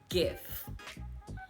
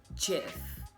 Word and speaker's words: GIF: for sure is that it is not pronounced gif it's pronounced jiff fight me fight me